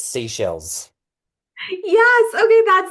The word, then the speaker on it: Seychelles: I found out how to pronounce that. It's seashells.